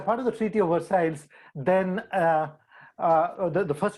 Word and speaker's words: Versailles: called the treaty of versailles that's how the french pronounce it is a small town